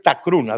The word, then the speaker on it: Takurunna: Se escribía en los documentos antiguos, porque no hay grafía medieval, Tacuruna, igual, idéntico. Pero la pronunciación es Tacruna.